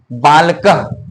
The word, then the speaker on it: बालकः: इसको बोलते हैं विसर्ग, जिसका उच्चारण हो होता है। जब भी हम लोग उच्चारण करेंगे तो बालकः लास्ट में हो का उच्चारण आना चाहिए।